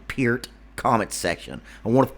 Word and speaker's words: Peart: if you know anything about Neil Peart, and yes, it's pronounced fucking Peart, comment section.